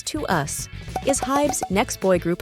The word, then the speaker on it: TWS: Now that you know Pledis Entertainment is owned by HYBE, let's just say TWS, pronounced as To Us, is HYBE's next boy group of 6 members.